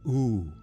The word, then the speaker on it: U: The you, pronounced oo, is the dream state,